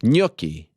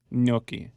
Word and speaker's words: gnocchi: my bad ganache kanachi yes um no it's gnocchi gnocchi yeah wow had some like three days ago